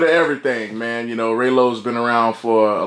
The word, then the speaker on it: Raylo: Google is your friend are a ylo spell it right don't be like Bootsy it's not Rollo busi saves my name up ray low dem damn dogs do